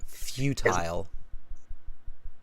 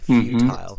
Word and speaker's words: futile: The correct pronunciation of this word, Islam, is futile. Futile. Oh, okay. Futile. Yeah, it's an I, futile in this case.